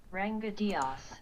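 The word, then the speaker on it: Ranga Dias: Ranga Diaz, I'll just quickly pronounce his name correctly. Ranga Diaz.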